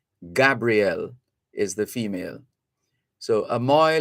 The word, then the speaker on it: Gabriel: 9-year-old Gabriel King, and there's a difference in the pronunciation of that name. If it's spelled Gabrielle, it means it's reference to a female. It's a female name. With just one L, it's a male name. So it's Gabriel, that's the male name.